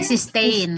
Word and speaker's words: cysteine: Okay, cysteine. It is pronounced as cysteine.